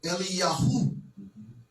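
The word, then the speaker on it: אליהו: And the way in which that we know that they pronounced these names with a wob on the end, like for example, like you read the scripture and it will be Eliyah, which has been pronounced Elijah. Eliyah, they would say Eliyahu.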